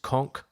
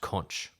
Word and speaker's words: conch: And side note, sorry SpongeBob fans, it's pronounced conch, not conch.